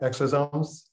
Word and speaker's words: exosome: I'm curious, you mentioned exosomes. Did I pronounce that right? Exosomes?